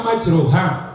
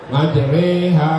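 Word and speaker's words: مجراها: tulisannya dan bacaannya berbeda contoh tulisannya majruha cara membacanya majriha wa Mur yang kedua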